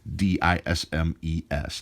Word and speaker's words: disme: started calling these dimes dism es dimes eventually since they stopped pronouncing the S it just went to